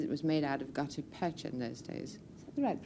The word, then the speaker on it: gutta percha: and became, as it was made out of gutta percha in those days. Is that the right pronunciation?